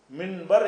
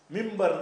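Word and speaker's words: منبر: மின்ப மின்பர் மின்பர் என்று எழுதினால் மிம்பர் தான் சொல்லணும். எழுதுவது மின்பர், வாசிப்பது மிம்பர்.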